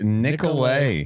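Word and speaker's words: Nicolet: All right, give me your phone because I don't 1-855 Nicolay. Silent T at the end.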